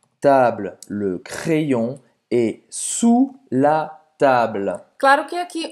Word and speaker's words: sous: Sous la table. Sous la table. Você não vai pronunciar esse S no final. E o som do OU vai ser o som de U, como em português.